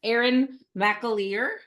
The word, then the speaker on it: Erin McAleer: Erin McAleer. You did it. Good Yay! Yay! I'm like a host that's remiss in asking pronunciation.